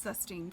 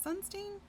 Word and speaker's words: Sunstein: Am I even saying his name right? Cass Custine. Sunstein. I guess I should get it right if I'm going to say his name, huh? Sunstein. My bad. Pretty sure I said Custine at some point in there.